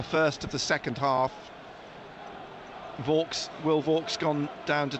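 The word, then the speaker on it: Vaulks: of the second half vs will vogs gone down to take it I say vs I think everyone assumes it's vs as in the brewery but it's not it's spelled v u l KS well we could do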